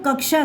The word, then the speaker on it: कक्षा: अब देखो कक्षा, क्लास को कक्षा बोलते हैं, इसमें आधा का लग गया, कक्षा। बिना इसके नहीं बोल पाओगे आप लोग कक्षा, क्योंकि ये शाह क्षत्रिय बाद में आया है।